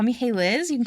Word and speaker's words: Hailiiz: Um but my username that you can also call me by is hey Liz. Not hi but hey.